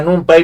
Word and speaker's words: NumPy: Recuerden, yo normalmente a NumPy le digo NumPy, porque se escribe al final sí con Y, que en